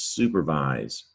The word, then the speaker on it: supervise: Is it vice or vise? It's supervise. This is making a Z in this word.